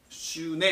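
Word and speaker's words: σύν: 슈네 이렇게 발음하는데 요 단어가 엘레오스에서 붙으면 엘레오 슈네가 돼요.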